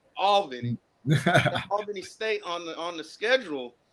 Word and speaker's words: Albany: That's how it's pronounced, Mike. Albany.